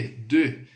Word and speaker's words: de: O som da letra E no francês é assim, ó. E. Você faz um biquinho e vai pronunciar O. O som de O mesmo, tá? Então fica lá, ó. E. Esse é o E do francês. Vamos lá. Nessa preposição, D mais E vai ficar de.